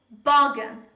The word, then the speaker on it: bargain: word like bargain bargain they tend to stress the second part of this word second syllable but the stress is on the first syllable say with me bargain